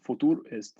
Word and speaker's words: Futur: Future, futur it's pronounced futur, not future.